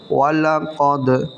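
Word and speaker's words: وَلَقَدْ: ওয়াও জবর ওয়া, লাম জবর লা, ওয়ালা, কফ দাল জবর কদ, ওয়ালাকাদ। আবার বানান করছি, ওয়াও জবর ওয়া, লাম জবর লা, ওয়ালা, কফ দাল জবর কদ, ওয়ালাকাদ রাআহু।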